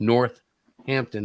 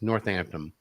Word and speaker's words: Northampton: oh i just said it but it's not pronounced north hampton it's northampton just like cabra hill is haverhill haverhill worchester